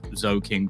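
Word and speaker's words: Zhoking: seen it i'm sure if you googled like zoe king playing counter-strike it will come up and uh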